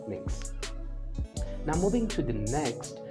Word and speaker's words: Mx: annex for them right and it's pronounced as mix now moving to the